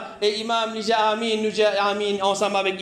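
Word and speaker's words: آمين: Comment pour prononcer Amin? C'est un alif qui est un madlo là. Alors, nous besoin qu'on prononce lui.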